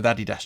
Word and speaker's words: Adidas: there, he's wearing an Adidas jacket or an Adidas jacket, depending on your pronunciation of it.